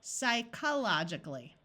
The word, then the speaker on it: psychologically: sounded Greek words and the PS at the beginning of a word also happens in Greek words so let's switch this CH H to the C Sound psychologically that sounds very